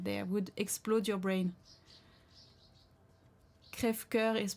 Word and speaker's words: Crève-cœur: Crève-cœur is pronounced Crève-cœur.